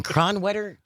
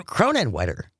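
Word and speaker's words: Kronenwetter: Julianne in Cronet. Cronin. Cronin Wetter.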